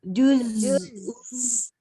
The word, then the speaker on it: juz: Kalau ada masih ada es, itu salah. Huruf zai nggak ada es. jus Juz.